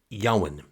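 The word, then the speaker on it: Jowan: And the teacher is a bloke called Yowen, which is spelt with a J, but pronounced like it's got a silent G.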